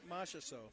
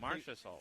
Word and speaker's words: Marchessault: Oh, how are you going to pronounce this Jordan last Marchessault. name? Say that again? Jordan Marchessault. How did you learn that? Well, because I hear it on TV. Marchessault.